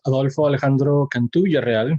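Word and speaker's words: Adolfo Alejandro Cantú: you uh hi everyone my name is adolfo alejandro cantu which you get bonus points if you can pronounce it right like that uh but to most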